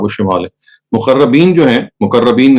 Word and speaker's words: مقربین: مقربین جو ہیں، مقربین اس کا صحیح تلفظ ہے، یہ تو سابقون کی کیٹیگری کے لوگ ہیں.